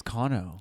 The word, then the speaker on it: Cano: But my name is Kano. Yeah, but it's spelled the same way. It's just different pronunciation.